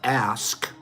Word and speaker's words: ask: The pronunciation of ask as axe, instead of saying ask, we say axe. That pronunciation has a very long history. And it's found in accents in America, Ireland, Jamaica, London, and it dates back to Old English.